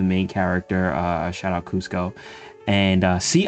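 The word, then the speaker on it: Kuzco: Uh shout out Cusco. And uh see, I said it right. You thought I was going to say couscous.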